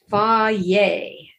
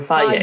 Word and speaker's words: Fage: And I understand that it's not F-A-G-E like Fage or Faye. Faye. Am I saying that right, Jill? I think so. Faye. I think that's what it's called, but it's spelled F-A-G-E. Yes. And I think the stress is on the first syllable.